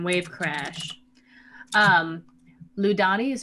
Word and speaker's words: Lludani: earlier uh yes uh her name uh is ludani wave crash and how do you spell that please somebody has the last name wave crash um ludani is spelled l-l-u-d-a-n-i wave crash that's very nice and